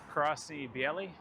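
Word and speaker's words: Красное&Белое: This is Krasny Bieli, is how you say it.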